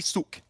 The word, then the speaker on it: Suk: It's just Suck, right? No, I thought it was that too yesterday, but people telling me, no, Maxman, that's not how you say it. It's actually Suk.